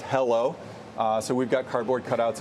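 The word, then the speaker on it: HELO: ticker wait for it is h-e-l-o pronounced hello so we've got cardboard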